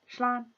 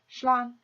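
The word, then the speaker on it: slán: And seeing how all this time we've become friends, we'll do the informal goodbye, which is just simply shlan, shlan.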